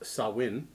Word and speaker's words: Samhain: this is just in samhain or a gaelic word pronounced sawwin is a pagan religious